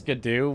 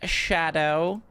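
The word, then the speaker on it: Scadu: Like originally, you know, you had some m actually it's pronounced shadow and nowadays everyone's just like, "Yeah, yeah, it's good.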